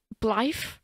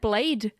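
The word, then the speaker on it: Blaidd: Okay, can I just very quickly say, Blythe? I always said Blade. I did not know you pronounced it Blythe.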